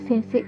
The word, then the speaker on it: sensei: You write sensei i, but you don't pronounce this i as i. The sound is long sound of this se, sensei.